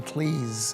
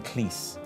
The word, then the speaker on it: Cleese: This is John Cleese, as in cheese. You've got to get that right. Yeah. In America, they call him Cleese. Yeah. And he really has a problem with that.